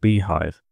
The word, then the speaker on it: bhyve: For virtualisation, FreeBSD has a built-in type 2 hypervisor called bhyve (pronounced "beehive").